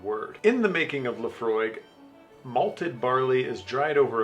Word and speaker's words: Laphroaig: old Scotch this is the Laphroaig 10 Laphroaig pronounced Laphroaig is an all malt scotch whiskey from the